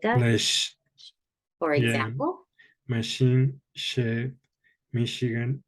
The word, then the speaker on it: Michigan: studied with Chicago because in Spanish we say Michigan and we say Chicago but it's got the soft Michigan and Chicago okay okay so this